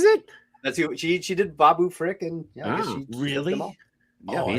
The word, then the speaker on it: Babu Frick: Wait, Babu Frick, not Babu Freak. Not Babu Freak. Freak out. That's his brother.